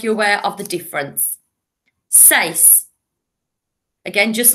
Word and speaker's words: seis: Seis. Six. Seis. Siete. Again, like number seven, it starts with an S. Siete. So if we think of six is one syllable, seis, six, seis.